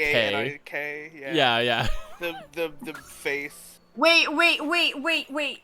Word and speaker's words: panik: That is just how you spell it in Swedish, and it's also pronounced panik. Panic.